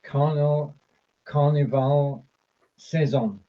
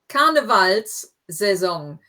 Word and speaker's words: Karnevalssaison: Or beginnt die Karnevalssaison. Karnevalssaison. That Saison. first S in that word, because you recognize the word carnival and saison, and the S in there just makes it easier to pronounce. So Karnevalssaison.